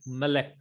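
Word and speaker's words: מלך: When Shiva comes in kaf sofit, it is always silent. The pronunciation is melek.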